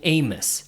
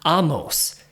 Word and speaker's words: Amos: I always pronounce my name Amos, right? Like famous Amos. But come to find out, the proper way to pronounce it in Judaism and in Hebrew is Amos.